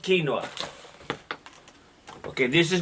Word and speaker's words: quinoa: side just throw it okay see quinoa it's pronounced quinoa okay this is not English this is not